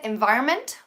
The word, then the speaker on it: environment: Okay, environment, no pronunciamos la N, environment, porque ya diciéndolo rápido nos saltamos esa N, pero es como government, gobierno, environment, medio ambiente, ¿vale?